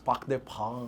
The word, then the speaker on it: Parc des Princes: Parc des Princes.